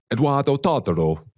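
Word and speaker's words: Edoardo Todaro: I know Eduardo Todoro. I said it right, Andrew? Yeah, good. In Italian as well.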